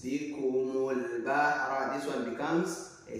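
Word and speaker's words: بِكُمُ الْبَحْرَ: Don't say bikum al bahra. No, it's bikumul bahra.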